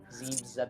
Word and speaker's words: Zebes: Because now we're headed to Planet Zebes. Zebes. Zebs. I mean, there are many things in this game you can pronounce many ways.